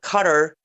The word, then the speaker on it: Qatar: Um so let's very briefly address because I a week before last I covered Qatar or some of you call it cutter at Qatar u closest to the proper pronunciation.